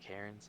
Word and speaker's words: Cairns: Is it Cairns? Am I right about pronouncing that? I'm so sorry, Yes. y'all. That's My how I'd say it. pronunciation. Yep. Oh, Karen's. thank God.